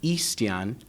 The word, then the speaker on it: Yxstian: name right right so my first name is ixtian and my last name is in Spanish it's actually eastian which is similarly pronounced to Christian in Spanish it's a very